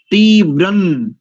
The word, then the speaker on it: तीव्रं: दूसरा मंत्र भी देखो, सुसमिद्धाय, समिद्धाय शोचिषे घृतन तीव्रन जुहोतना। घृतम नहीं करेंगे, तीव्रम नहीं करेंगे, ध्यान रखिए। घृतन तीव्रं जुहोतना, ऐसा इया हो जाएगा।